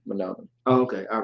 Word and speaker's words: Menominee: That's how you pronounce it. Okay. Menominee. Menominee. Menominee.